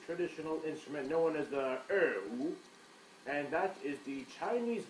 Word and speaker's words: erhu: It is spelled E-R-H-U. An eru. Yes, an erhu.